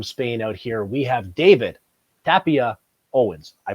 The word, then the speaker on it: Tapia-Owens: All the way from Spain out here, we have David Tapia-Owens. I pronounced that right, correct?